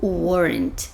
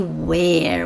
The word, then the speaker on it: were: wasn't you Wen tá preste atenção na pronúncia do were fechadinho não fale Where where é o pronome interrogativo onde em inglês verbo to be no passado é fechadinho were Wen Tá certo essa